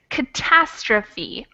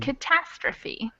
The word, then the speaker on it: catastrophe: little notes on pronunciation this is catastrophic and this over here is catastrophe so the stress changes a little between catastrophic and catastrophe okay all right and